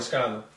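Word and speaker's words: Lazcano: How do you pronounce the last name? Lascano.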